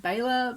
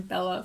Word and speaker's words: Bela: lugosi and yes i do know it's properly pronounced baylor but i just can't quite get my tongue around that i'm so used to calling him bella from when i was a little horror fan